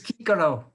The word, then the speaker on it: Cicero: He's Kikero. Kikero. Can you imagine calling Cicero Kiki?